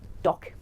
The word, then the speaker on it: talk: उसको AW बना दो, टॉक में आप टॉक नहीं, ए को उठाकर AW प्रोनाउंस करेंगे, तो सही प्रोनाउंसिएशन होगी टॉक, और cost, And very common word, develop, development, no, it's supposed to be develop, development.